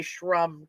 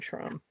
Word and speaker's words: Shrum: I'm in there am I pronouncing your last name right shroom oh there's okay did I no no I said sh I would say Shrum too that's what I was saying Shrum yeah and our our our